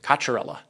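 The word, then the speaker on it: Cocchiarella: And also, I always see comments about the pronunciation. Kacharella. That's how you say my name.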